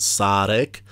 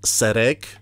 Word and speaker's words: Sarek: And by the way, I am pretty sure that his name is pronounced Sarek and not Serek.